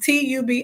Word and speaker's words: Tubi: So I love Tubi as well. And it's pronounced Tubi, and it's not a paid partnership or anything.